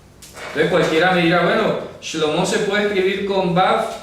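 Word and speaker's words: שלמה: Ejemplo, el nombre de Salomón se escribe sin ninguna Vav y se pronuncia Shlomo.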